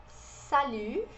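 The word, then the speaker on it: salut: gente tem o salir salir isso pode repetindo depois de mim aqui a gente não pronunciou ter e aqui oo tá sozinho Como eu disse no começo do vídeo a gente faz o biquinho é uma mistura de io con I Então a gente fala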